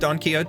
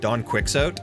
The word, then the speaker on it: Don Quixote: I didn't know it was pronounced donote at that. And my ex-girlfriend at the time had corrected me because I said Donquixot and she was like, "It's Don Kiote."